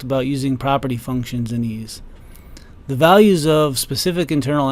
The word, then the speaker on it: EES: EES which is pronounced ease is an acronym for Engineering Equation Solver in the last few videos we've talked about using property functions in ease the values of specific